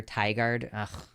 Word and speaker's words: Tigard: consequences like do they it's pronounced like tiger Tigard God I'm so tired